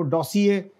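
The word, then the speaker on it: dossier: ये जो है ना, ये डिप्लोमेटिक लव्ज है, ये डॉसिए। और आर जो है ना, हमारे बहुत सारे लोग जो हैं इवन डिप्लोमेट्स भी इसको आर को साइलेंट नहीं करते, वो डॉसिए नहीं कहते, डॉसिए। This is come from French, तो उस वजह से फिर ये डॉसिए है।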